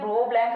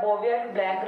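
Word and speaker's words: Bouveault-Blanc: ब्रो ब्लैंक reduction इसका देखो बोलते हैं ब्रो ब्लैंक रिडक्शन, और जो इसका स्पेलिंग होता है वो कुछ इस टाइप से होता है। तो यहाँ से क्या लगता है, बोवियर ब्लैंक रिडक्शन लगता है, बट ये एक्चुअल में ब्रो ब्लैंक रिडक्शन ही होता है।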